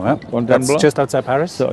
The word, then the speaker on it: Fontainebleau: Tomorrow morning I'm leaving for Fontainebleau, is that it? How do you say that? Fontainebleau, yeah. Fontainebleau.